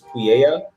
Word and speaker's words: Pouya: uh it's kaiju.pu but uh pooh part is actually my last name which is pouya oh okay pronounces it